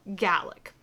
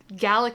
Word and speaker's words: Gaelic: I didn't even know until I saw Willow's video that Gaelic and Gaelic both exist and they're 2 different languages.